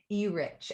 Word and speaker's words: Urich: Okay, how do you say his last name? Urich. E-Rich.